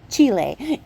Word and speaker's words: Chile: oh yeah the US version is entirely incorrect Chile is how you say it so that's the